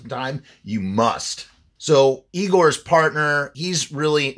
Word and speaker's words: Igor: you got a sculptor named Igor but he pronounces his name Igor he's got a wax museum it's in it's